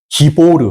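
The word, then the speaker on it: גיבור: 이 기뽀르는 무슨 뜻이냐면, 기보르 혹은 기뽀르, 기뽀르 뭐 여러 가지 발음이 있는데, 기뽀르의 뜻은 용사라는 뜻입니다.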